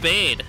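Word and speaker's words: Bede: yeah AR going uh his name is pronounced bade um they say it in his song in in his in his theme song Hold on hold on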